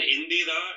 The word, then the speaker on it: Indira: And Indira is the former Prime Minister of India, and that's a female gender name. That's spelled as Indira, while Indra is spelled as Indra. Okay, so the I makes it feminized in this context.